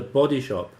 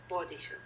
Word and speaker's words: Body Shop: Their campaigning is Also, the stress is on the Body Shop. Body Shop, yeah. It's on body. It's not on shop.